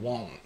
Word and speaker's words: won't: 다시 한번 won't. She won't let Tori and me show 그래서 우리가 진짜 정확하게 한번 발음을 해봤는데 미국 사람들은 사실 이렇게 정확하게 발음하는 사람들은 드물거든요.